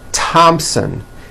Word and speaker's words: Thompson: Although these next words and names are spelled with a TH, they are pronounced as if they were spelled with a normal T, like that.